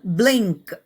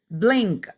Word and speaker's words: blink: ബ്ലിങ്ക് അത് ഉച്ചരിക്കുക. ബ്ലിങ് എന്ന് പറഞ്ഞിട്ട് ക്ക് എന്ന് പറയുക. ബ്ലിങ്, ബ്ലിങ്, ബ്ലിങ് എന്ന് പറയില്ലേ? ആ ബ്ലിങ് എന്ന് പറഞ്ഞതിന് ശേഷം കെ. ഓക്കെ, അപ്പൊ ബ്ലിങ് എന്നൊന്നും പറയരുത്, അത് ഉച്ചരിക്കുക ബ്ലിങ്ക്, ബ്ലിങ്ക്, ബ്ലിങ്ക്.